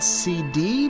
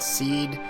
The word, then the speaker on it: SeeD: I always said CD, but I see a lot of people on the internet just call it Seed. I always call it CD because you can see the D is capitalized.